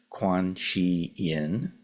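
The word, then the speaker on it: Guanyin: Quan say and it it's the same word as quanin uh which is the more or less approximately the the Mandarin pronunciation though I'm sure I'm mangling it terribly it's also the same as K on which is the Japanese pronunciation and it's also has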